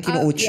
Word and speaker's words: Kinouchi: Bakit Kinuchi yung apelido mo? Kasi Spanish sila. Anong Spanish Kinuchi? Japanese. Kinouchi. Hindi nga. Tama ba ang bigkas namin? Kinouchi. Yes. Kinouchi.